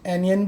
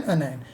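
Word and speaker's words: anion: बहुत सारे टीचर्स को कैशियंस भी कहते हैं, एनियन भी कहते हैं, लेकिन ये प्रॉपर प्रोनाउंसिएशन कटायन अनायन.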